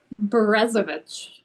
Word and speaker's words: Berezovich: Berezovich.